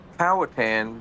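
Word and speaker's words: Powhatan: How do you say my hometown is Pawatan? Uh, Powatan normally will go with it, but I did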